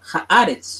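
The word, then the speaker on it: הארץ: Entonces ya no se va a pronunciar Eretz, sino se va a pronunciar Haaretz.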